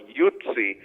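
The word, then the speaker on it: Yutze: This is this is not something I would cover in my book, but when you have the word, the way you pronounce it, Yutzi, it sounds very much like the term Utes or Jutes that were part of the Anglo-Saxons, and Jutes or Utes.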